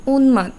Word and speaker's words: উন্মাদ: উচ্চারণ দীপ্ত হবে না ম ফলার উচ্চারণটা ম এর মতোই হবে যেমন আমাদের দ্বিতীয় শব্দটা কি ছিল উন্মাদ তার মানে ন এরকম